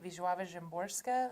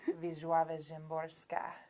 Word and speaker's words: Wisława Szymborska: And so Pablo Neruda, Sandra Cisneros, most especially Wisława Szymborska, who's a Polish poet. say that again. It's so good. Wisława Szymborska.